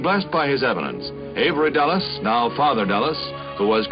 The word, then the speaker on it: Dulles: Yeah, the Dallas Dulles. I got it wrong.